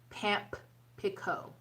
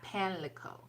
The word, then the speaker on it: Pamlico: which is Pamlico Sound, which actually it should be pronounced Pampico, not Panlico, but Pampico Sound.